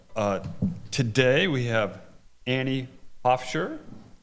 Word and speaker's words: Pofcher: Uh today we have Annie Hoffshire. Correct. I pronounced your name right, Annie.